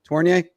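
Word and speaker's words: Tourigny: do I even need to learn how to pronounce toier? Torier.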